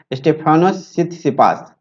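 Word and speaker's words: Stefanos Tsitsipas: तो ये T silent है इसमें, सित सिपास, ठीक है। स्टेफानोस सित सिपास ठीक है, तो आप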